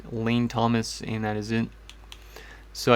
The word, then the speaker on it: Lane Thomas: walker johnny jones or jamae jones and it's pronounced lane thomas and that is it so i think they